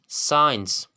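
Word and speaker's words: science: अब रूल क्या है, अगर किसी लफ्ज़ में सी से पहले एस आता है तो सी हमेशा साइलेंट होगा। लाइक आपके पास कुछ एग्जांपल्स हैं। सेंट, खुशबू, सेंट, सेंट। साइंस, साइंस, इल्म।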